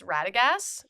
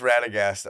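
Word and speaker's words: Radagast: Him and our other good friend Ben Waters who soft cosplays as Ratagas. Is that how you say it? It is Ratagast.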